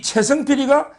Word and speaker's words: 최성필: 이 발음을 제가 승리할 때 성이 아니고 어머니 할 때 있잖아. 성필. 발음이 좀 제가 부정확해서 발음 있잖아요. 예. 그러니까 제가 항상 이 블랙 커피 할 때 블랙을 잘 못해서 벌레 할 때 블랙이 되듯이 원래 전북의 최성필입니다.